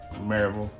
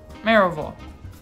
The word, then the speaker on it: Maryville: Maryville. Maryville. Maryville. Maryville. So you do the vol on that one. I'm telling you, don't do the vol.